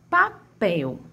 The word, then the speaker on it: papel: Papel. Vamos chamar papel. Papel. Qual é a sílaba que mais se estende? Papel. Papel. A sílaba que mais se estende, a sílaba de maior tonicidade é a pel.